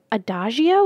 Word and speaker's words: Adagio: Inspired teas from Adagio, is that how you say it? Yes, Adagio.